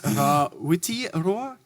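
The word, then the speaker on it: Rawhiti Roa: We, in Taranaki, is a specific dialect where we kind of ignore the H. So it is Rawiti Roa.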